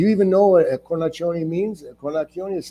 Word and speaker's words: Cornacchione: So I have my real last name is Cornacchione, CORNACCHIONEQUASTUVWXYZ. And in Ohio, they pronounce it Canaccio. And my dad once said, "Why do you pronounce your name Cornacchione?" And I said, "Well, because that's what it is."